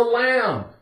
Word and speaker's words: lamb: The B is silent. What is a lamb?